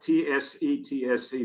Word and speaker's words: tsetse: The parasite is carried by the tsetse fly, which is spelled T-S-E-T-S-E, but it's pronounced tsetse.